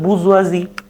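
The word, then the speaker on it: bourgeoisie: এভাবে যদি ভেঙ্গে ভেঙ্গে পড় তাহলে কিন্তু তেমন একটা টাস না B hour Jio আই এস আই বুরজুয়া এটার আবার হল আরেকটা উচ্চারণ আছে যে বুজুয়াজি আর আরেকটা হল গ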